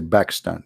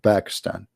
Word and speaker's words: Pakistan: when we say we don't say Pakistan we say back stand back Pakistan because an Arabic we don't have P you know we have a B not P so always a man